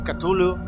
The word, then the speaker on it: Cthulhu: una nueva serie hoy le toca calmos catullo se pronuncia así después de buscar varias veces cómo se pronunciaba a veces decimos q tu look call of catullo un juego al estilo